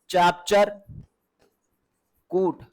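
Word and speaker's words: Chapchar Kut: चापचर फूट, चापचर कूट, ठीक है, चापचर कूट है, कुछ को चपचार कूट, जैसे जैसे उसमें लिखा जाता है अलग अलग प्रोनाउंसिएशन है, याद रखिएगा। चापचर कूट भी हो सकता है, चपचार कूट भी हो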